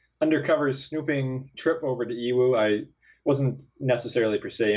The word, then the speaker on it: Yiwu: It's spelled YIWU, but it's pronounced Iwu. I think basically the Y is silent and the I becomes an E or something like that. I don't know how Chinese works, but it's pronounced Iwu.